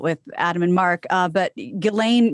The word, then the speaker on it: Ghislaine: Adam and mark but ghilane Maxwell at least that's the way I've heard it pronounced through multiple podcast about Epstein she has been